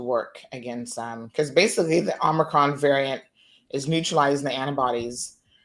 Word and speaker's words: Omicron: She just said it casually, like, "Oh yeah, the omnicorn."